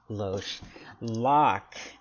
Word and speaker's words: Loch: never heard that before lock is Scottish for like I've never heard of that it's like drink but ending in ch rather than NK as far as I